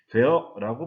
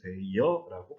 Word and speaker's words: 되어: 되어라고 발음해도 되지만 되여라고 발음해도 됩니다.